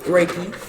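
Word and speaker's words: Reiki: deal with reiy raiki how you say it raiki raiki so that's chakas right mhm do each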